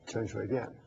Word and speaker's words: Chen Shui-bian: And then they become democratic with the election of President Chen, how's that pronounced? Chen Shui-bian.